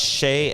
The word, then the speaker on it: Chez: And I explained this last time, but the reason I went with 𝓟There Dante, it's pronounced Chez and not Ches.